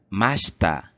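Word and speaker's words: ました: Então, a forma passada do verbo se pronuncia mashita, mashita.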